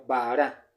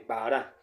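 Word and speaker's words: בָּרָא: usar esta palabra como baará. se colocaron dos dos vocales que le dan la pronunciación de Bahará y esto es creó tiempo pasado, ¿vale?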